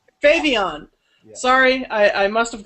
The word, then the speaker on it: Phavian: is how you guys pronounce the band? Phavian. Phavian.